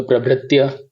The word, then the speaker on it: प्रभृत्य: फिर है प्र भ के नीचे रफा है तो भ्र का उच्चारण होगा प्र भ्र, आधा त और य तो प्रभृत्य।